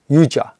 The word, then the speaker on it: Yujir: Okay, so now yoga is an English pronunciation of a very, very old technique called Yujir, Y-U-J-I-R, or Y-U-J.